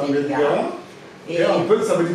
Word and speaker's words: Vélingara: Alors, donc, merci pour toutes ces précisions donc, de l'économie de cette ville, Vélingara. J'espère que je le prononce bien. Oui, c'est ça, Vélingara.